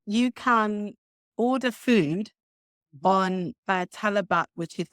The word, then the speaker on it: Talabat: How do you spell it? The company that delivers it is called Talabat. So how and it's T-A-L-A-B-A-T.